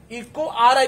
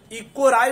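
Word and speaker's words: EcoRI: इको आर आई पढ़ना है, इको राई नहीं पढ़ना है।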